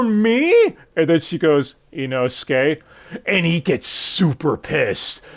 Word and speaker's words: Inosuke: And Inosuke is trying to teach her how to say his name, and she's like, Ibosuke? Irosuke? Like, damn it, it's Inosuke!